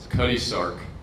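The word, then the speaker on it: Cutty Sark: It was Cuddy Sark. Exactly. I didn't want to mispronounce it.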